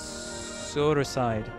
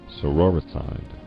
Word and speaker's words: sororicide: Okay, so it's Soroside. Is it Soroside? Sorori side. How is it pronounced, bro? Soror means sister. Sororicide.